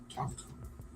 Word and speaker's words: Tomko: Eric, how do you say it? Tomko? Is it Tomko? Tomko. Almost sounds Indian.